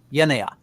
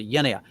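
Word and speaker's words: γενεά: Genea is how I would pronounce it. So genea. And you would have to decide in the context what exactly it means there.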